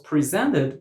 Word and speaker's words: present: the first syllable, but as a verb, we pronounce it present and we put the stress on the second syllable.